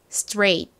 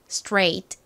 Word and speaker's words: straight: str str 이렇게 뜻 소리가납니다 자 한번 더 발음해 볼게요 straight 좋습니다 그리고 앞에서도 말씀드렸던 것처럼 are 뒤에 모음이